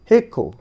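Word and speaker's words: hiccough: এবার দ্বিতীয় লাইনে দেখো রয়েছে এখানে লাস্টে OUGS রয়েছে, হেক্কো।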